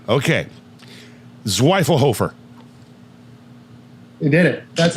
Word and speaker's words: Zwiefelhofer: Zwiefelhofer. You did it. That's how I pronounce it, for sure.